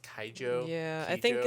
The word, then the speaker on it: Keijo: is that it's pronounced kaijo yeah i think in the english dub they call it keijo but the way that the japanese say it is kaijo so i'm gonna i'm